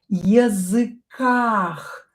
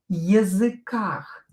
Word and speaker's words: языках: Иностранных языках. We'll use this first. Их will be replaced with ах. Языках. Языках. Языках. Ударение на букву А.